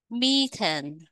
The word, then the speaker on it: methane: đến là 430 độ C các bạn mercury methane methane methan đây là khí metan đó các